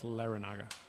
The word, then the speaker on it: Laranaga: It is not Laranga, it's Laranaga. There's an A in there.